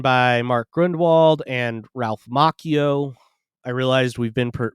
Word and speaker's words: Macchio: of 1980, written by Mark Grundwald and Ralph Macchio. I realized we've been mispronouncing that every time I say that he's on a one. I've been saying Ralph Macchio, but it's Ralph Macchio.